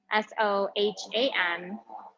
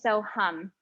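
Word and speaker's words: Soham: be using a mantra satam no so p s o h a m and when you're talking about Sanskrit there's um it's not pronounced ham so ham so ham it's so hum um the a are pronounced like use so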